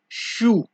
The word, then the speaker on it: chou: So that it is for the CH sound in French, which is pronounced as SH.